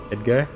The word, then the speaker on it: Edgar: Edgar? I was saying it more with like the Mexican accent. I was saying the Mexican pronunciation. Said like it was two words.